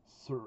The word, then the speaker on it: Saor: This is an album from 2025 from the Scottish band, which is written SAOR, but it's Sir. I think it's Sir, the pronunciation. It means free in Scottish Gaelic.